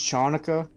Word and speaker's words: Hanukkah: nobody gets left behind it's pronounced chanuka God almost celebrate Kwanzaa